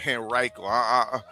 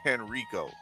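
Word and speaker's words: Henrico: That's how you say it. Henriiko. I keep on saying Henrio.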